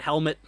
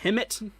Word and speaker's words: Hemet: We had Helmet. I called it Helmet, but it's I think Hemet. Pretty sure that's how you pronounce it.